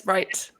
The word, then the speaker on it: Ryte: Is that how you pronounce it? Yes, Ryte.